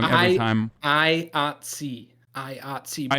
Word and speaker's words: IATSE: IATSE. But IATSE.